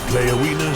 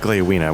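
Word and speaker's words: Gléowine: Leowina speaks the truth in this. Okay, so it's pronounced Gleowina, which I didn't know.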